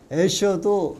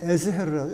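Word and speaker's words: Escher: 저 애셔도 영어식 발음이고 그 나라 사람들 말로 하면 에스헤르라고, 에스헤르.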